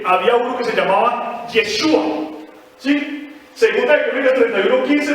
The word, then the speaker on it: Yeshua: 7:39, donde vemos que el nombre ya se pronuncia como Yeshua, personajes que no eran el Señor Jesús, sino